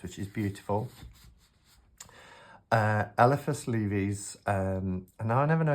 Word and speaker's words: Lévi: Uh Elephice Levy's um now I never know if it's Le it's not Levi like the jeans but I think it's Levy I think is how you pronounce his name.